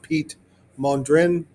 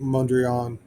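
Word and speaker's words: Piet Mondrian: It's pronounced Pete Mondrin, but everybody pronounces it mandreon.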